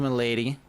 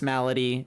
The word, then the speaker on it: Malady: of wishes temple of milady i know it's malady everyone's always like god jeff you're saying it wrong it's malady i know it's just